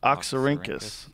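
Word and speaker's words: Oxyrhynchus: say it does it tell you oxus oxus oxar rinkus it's Greek interesting oxar rinkus yeah taxes though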